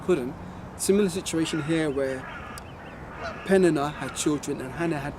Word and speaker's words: Peninnah: And Peninnah, that's how you say it, had children, but Hannah had no children.